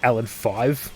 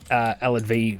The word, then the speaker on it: Alad V: We kept pronouncing it Alad 5, because it's like, Roman numeral for 5. And he's like, no, it's Alad V.